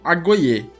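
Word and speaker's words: agoge: Esse programa de ensino, na qual eles saíam da casa dos pais, era conhecido como agoye. Se escreve A-G-O-G-E, né, em português, mas em grego a gente pode ler agoye.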